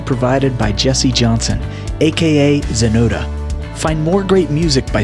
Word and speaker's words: Xenoda: by jesse johnson aka xenoda find more great music by searching jesse johnson or zonota spelled with an x on youtube and most